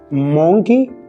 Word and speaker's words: monkey: Monkey. It's not monkey, it's monkey.